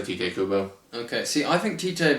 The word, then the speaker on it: Tite Kubo: I'll say Tite Kubo. Okay, see, I think Tite because I think. With the Japanese pronunciation, I think the I is the E and the E is the A.